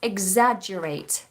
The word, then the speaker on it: exaggerate: how do you pronounce exaggerated egg like an egg that you eat exaggerate exaggerates sky there's